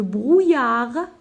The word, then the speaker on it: brouillard: Dans le buisson, virgule, Zinou voit une petite grenouille, virgule, mais le brouillard, je ne prononce pas la lettre D, mouille le feuillage, point.